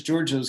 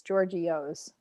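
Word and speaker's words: Georgio's: coming back when is georges coming back yes probably yeah okay you're saying it wrong it's georgios does anybody say that it is giorgio's yeah that's how you say it isn't that like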